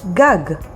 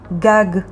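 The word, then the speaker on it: גג: dalid and bet dov now for another word gag which means roof and spelled with two gimmies gag next word dag which means a fish and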